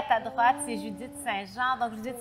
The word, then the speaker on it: St-Jean: Et à ta droite, c'est Judith Saint-Jean. Donc, Judith Saint-Jean de chez Blao. Est-ce que je le prononce comme il faut?